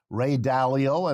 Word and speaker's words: Dalio: called the changing world order published in 2021 ray dalio and it's spelled d-a-l-i-o is an important figure and since